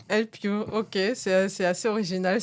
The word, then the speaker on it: Elpyoo: Et mais ouais, ça se prononce Elpu. El Piw.